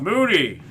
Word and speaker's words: Moody: You got your name wrong? It's Moody.